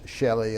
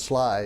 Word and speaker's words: Schley: And people pronounce it all kind of different funny ways, Shelley and all that, but it's Sly, as you know.